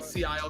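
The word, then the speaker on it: Szayel: Do you remember when Sea Isle comes Oh, back?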